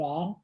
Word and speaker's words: Roy: Trading Raw. Did I say it right? Yeah. Raw. Wow. Stop saying the R. Patrick Roy. You know. Come on, Trading man. Raw, Chelios, and Suter.